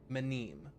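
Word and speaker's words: Mneme: It's spelled M N E M E. Blight manem.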